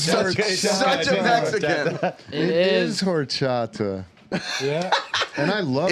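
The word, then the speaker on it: horchata: end it is such a Mexican it is horata yeah and I love horata the least Mexican yes s tier for sure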